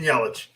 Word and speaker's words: Yelich: milwaukee christian yeah christian eurich or whatever you're pronouncing christian yelich yes uh she trades away everybody gets rid